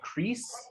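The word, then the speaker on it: kris: understanding the word right k-r-i-s and might also be pronounced crease okay thank you and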